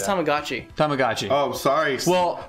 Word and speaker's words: Tamagotchi: and yeah by the way did Bill say Tom like Gucci yeah it's Tamagotchi Tamagotchi oh sorry well it's pronounced with a long a sound so hamaguchi